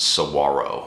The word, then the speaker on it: saguaro: It's S-A-G-U-A-R-O, but it's pronounced saguaro.